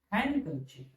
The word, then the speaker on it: handkerchief: It is handkerchief. It is a silent letter.